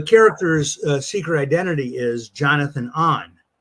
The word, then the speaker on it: Ohn: And I've heard that mispronounced on the Marvel cartoon shows and stuff, where they call him Jonathan Own because it's spelled O-H-N. But it's in my head, and you'll see why in a second, it was Jonathan On.